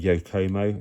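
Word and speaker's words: Yokomo: And it comes with some sort of um it's like a some sort of Yokcomo, that's how it's pronounced, motor in the back. So, some sort of sport tuned yo yokoma motor in there, which is probably far too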